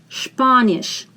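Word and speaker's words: Spanisch: that's French Spanish Spanish SP we pronounce as SHP Spanish italianis Italian italianis did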